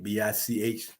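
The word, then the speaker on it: Bich: Then he started making retractable tips, mechanical pencils, even started making lighters, the big lighter, Bic, B-I-C-H, pronounced Bic, B-I-C.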